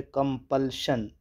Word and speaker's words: compulsion: कंपल्शन के बाद टू के बाद वर्ब की फर्स्ट फॉर्म यूज़ होगी और कंपल्शन का प्रोनाउंसिएशन है कंपल्शन। श की आवाज़ साउंड निकालेंगे, श की, कंपल्शन, जिसकी मीनिंग होगी मजबूरी।